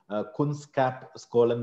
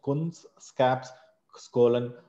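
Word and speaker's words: Kunskapsskolan: एक Sweden university का नाम है कुंस्कैप बोल के, कुंस्कैप स्कोलन बोलते हैं अगर आपको प्रोनाउंसिएशन, कुंस्कैप स्कोलन, और मानव रचना जो फरीदाबाद में है।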